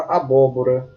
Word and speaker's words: abóbora: Vamos à próxima palavra, abóbora. Veja a palavra abóbora. Ela está na antepenúltima sílaba e é chamada de proparoxítona.